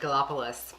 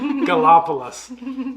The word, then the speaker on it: Gallipolis: I would have said Gallipolis. Yeah. Gallipolis. Yeah, we are just south of Dayton, so we are a couple hours, probably 2 hours from Gallipolis.